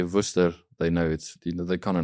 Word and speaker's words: Worcester: So your farm is in Worcester. Is that even the correct way to pronounce it?